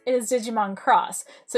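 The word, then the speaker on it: Digimon Xros: c it is not digimon x-rays it is digimon cross so you've got x being a c in cross you've got um x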